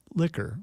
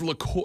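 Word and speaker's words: liqueur: from Central and South America obviously is it pronounced Lor or is it liquor I mean it's Lor it is a Lor and Lor is a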